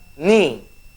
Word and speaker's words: knee: And the word is knee. But there's K in the knee, okay, there's a K. But K is silent.